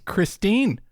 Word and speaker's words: Christine: Is it Christine or Kristen? It's Christine. It's Christine. I'm if I'm wrong, I'm wrong, but I'm calling it here because when I hear other competitors from across the pond say her name. Yes. Christine. Oh, okay. They say Christine.